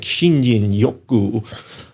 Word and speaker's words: Shinrin-yoku: Or, and am I pronouncing this correctly, Shinrin-yoku? I mean, that's probably how most Americans pronounce it. My Japanese friends have tried to teach me how to say this, and it sounds something like Shinjin Yoku.